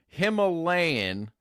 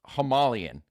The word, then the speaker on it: Himalayan: You've never heard you've never dude the word is Himalayan like the mountain range. I've never heard it pronounced the way that you're saying it. Well, then you clearly haven't listened to Gian Khazar talk about Bigfoot for about 3 hours on the Benol of America podcast because he is the proprietor of the Homalius. I've also heard other researchers claim it's Homalian, but I don't have a